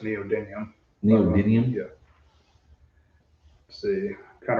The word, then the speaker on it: neodymium: I think it's pronounced neodymium.